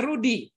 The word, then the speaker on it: Roedy: yang lain tetapi Kemudian Bapak cek kembali roedy itu bacanya Rudi Berarti Bapak harus cek